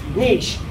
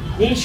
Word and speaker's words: niche: Niche. Niche or niche, depending on where you're from and what your pronunciation is, this is all about creating a predictable cash flow.